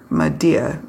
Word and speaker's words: Madia: Madia is how you say it. That's the dialect.